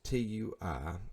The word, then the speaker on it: Tui: liked advertisement stuff like it and it was t UI which actually is pronounced tui I did not know that then